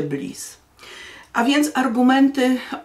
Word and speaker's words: Blythe: Z koleżankami długo czytałyśmy Gilbert Blythe, bo nie wiedziałyśmy, że czyta się Bliss.